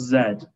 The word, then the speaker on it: Z: the for uk english the last letter of the alphabet is pronounced zed in case it comes